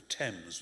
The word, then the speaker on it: Thames: we call it the Thames with a hard th and an e instead of an A for the tank that's